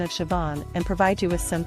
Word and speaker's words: Siobhan: a special name that often leaves people puzzled Shon in this video we'll break down the pronunciation of Siobhan and provide you with some tips to help